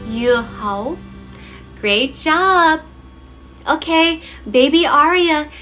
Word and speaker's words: dưa hấu: As you can see, in Vietnamese, dưa hấu is spelled with a D, but the sound that it makes is ya, ya, ya. Mm-hmm. In Vietnamese, when there is a D like this, it is actually pronounced ya.